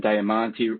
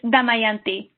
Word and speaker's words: Damayanti: Dhingra's talk, we have comments and questions from Kiana Foster Morrow, Kyrie McBroom and Diamante. Did I pronounce that correctly? Yeah, it's Damayanti.